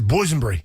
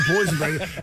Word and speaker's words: Boonbury: it but he says boonbury it's not boeny it's Bo and Berry so what does he say boeny that's not how it's pronounced don't do that ever again but the that sounds like